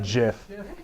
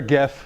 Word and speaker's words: GIF: talked about could be gifts could be memes gif is the pronunciation how come everybody says it's not Jeff you shut your mouth it's gift all right let's not start